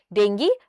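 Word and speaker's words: dengue: नाउ आपके लिए यहाँ पे क्वेश्चन है कि डेंगी जो है, या आप डेंगू बोलते हैं, it's usually pronounce as डेंगी.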